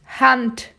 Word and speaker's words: Hand: E o D no final vai ter som de T. Vai ser explodido. Hand, hand, hand. É assim a pronúncia, tá, gente?